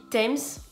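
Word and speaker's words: Thames: qu'il passe partout donc en anglais ça se dit times même si ça s'écrit th et surtout on dira toujours river times et non pas times river voilà exactement ce qui serait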